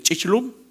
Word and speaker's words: chichlum: en maya le dicen chichlum. ¿Dónde están los mayeros por acá? ¿Está bien dicho? Chichlum. Y hay que pronunciarlo bien, porque una cosa es chich, que es abuela, ¿sí?